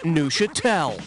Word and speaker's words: Neuchâtel: The cheese is pronounced Neuchâtel.